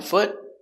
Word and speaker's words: foot: f t f foot it's a stop T so we don't say foot we put our tongue up and stop foot foot one foot remember the